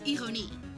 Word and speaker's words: ironie: Oh, if you wanna know, like, the irony in Dutch, it doesn't end with the Y, it ends with an I and an E. So you pronounce it as ironie.